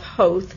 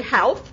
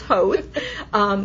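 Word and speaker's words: Howth: the little town of hope it's h o w th but it rhymes with grouse so as an American I want to say health but it's hope it's wonderful and I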